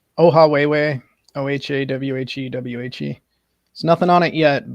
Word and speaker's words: Ohawhewhe: Emily, his channel, if you want to pronounce it again, I'll write it in the chat too. Yeah, it's Ohawhewhe, Ohawhewhe.